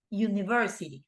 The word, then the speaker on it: university: It's not university, right? It's university. So in this case, right, it's not gonna be an university because that is not correct. The correct form will be a university.